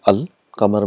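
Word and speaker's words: القمر: okay so here the sound of lamb is pronounced for example we have comer and we got this definite article al kamar means moon so when you get plus comma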